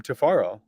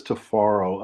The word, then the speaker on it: Tifiro: everyone about your name tafaro yeah well my name is tafaro uh the name is uh is spelled in the African pronunciation with t-i-f-i so the I sound like A's but they're really they're